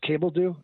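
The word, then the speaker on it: Cabeldue: Is it Bryce Cabledew? Is that how you say his name? Yep. Okay, good. Got that one right.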